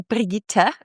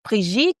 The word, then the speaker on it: Brigitte: So my name is actually Priita but it's a German Swedish name. In French it's Pietit and in English it's it's Bridget.